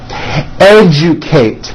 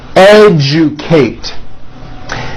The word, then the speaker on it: educate: Algebra, legend, magic, subject, digest, rejoice, objective, majesty, educate. That has also an unusual pronunciation. Let me break it down for you. Educate, educate.